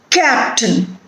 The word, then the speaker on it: captain: Captain. Stress on the first syllable.